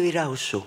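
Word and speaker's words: Erauso: Catalina de Eraoso. Oui. Je ne sais pas prononcer. Le S, c'est che en basque. Si vous dites Catalina de Eraoso, les Basques vous regardent Eraoso.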